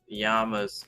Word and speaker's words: Yama: too, because I was saying the yamas sound like mama, but not unless you call her mama. Because you're supposed to be saying Yama. The A in Sanskrit is pronounced like the U in sun.